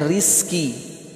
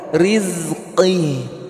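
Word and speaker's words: رزقِ: Riz. Jangan rizki. Ya, jangan rizki. Ya. Jangan rizki ya. Kalau rizki penyanyi dia. Ya. Ya, kalau rizki penyanyi. Berdua bersamamu menyadarkanku apa artinya kenyamanan, kelembutan, kasih sayang, ketulusan. Itu ya, rizki itu namanya. Tapi ini rizki. Huruf qaf. Rizqi.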